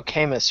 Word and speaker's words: Camus: Camu.